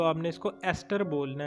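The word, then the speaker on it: ester: अब है हमारे पास 12th एग्जाम्पल, वो है एस्टर। इसको ध्यान से आपने पढ़ना है, इसको प्रोनाउंसिएशन का ज़रा सा बच्चों के अंदर कन्फ्यूजन होती है, वो इसको ईस्टर बोल देते हैं। ईस्टर नहीं बोलना, वो एक जो फॉरेन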